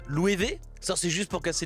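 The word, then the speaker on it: Loewe: s'écrit l o e W eh qui se prononce louée ça c'est juste pour casser les couilles des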